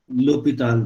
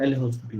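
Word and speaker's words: L'Hôpital: L'Hopital rule. So we call this, we write as L the spelling is L hospital, but we pronounce this L'Hopital. L'Hopital. So it is L'Hopital rule, not L hospital rule.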